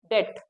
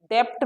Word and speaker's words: debt: Next word is डेट। डेप्ट मत पढ़ना इसको, DEBT, इसमें बी साइलेंट है, दिस इज डेट, डेट नहीं, डेट।